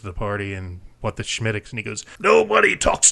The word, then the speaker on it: Smithwick's: It looks like Smithwick's, but it's called Schmittix. It's pronounced Schmittix.